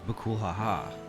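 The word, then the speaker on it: Bakool Ja Ja: Choosing to pronounce bakul ja the proper Mexican way as bukulhaha.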